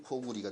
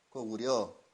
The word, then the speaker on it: 고구려: 그럼 고구리가 된 거예요. 고구려. 고구려라고 읽으면 안 되죠. 고구리라고 읽어야죠.